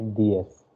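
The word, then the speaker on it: diez: I told already that z is sh pronunciation. So you should say ds.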